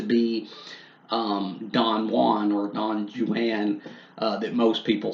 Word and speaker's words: Don Juan: of Don Juan or really I guess I should say Don Jan if you pronounce it like he tells us to pronounce it in the work um I think I